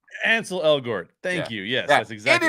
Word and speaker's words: Ansel Elgort: So this is it's Ansel Elgort. Ansel Elgort.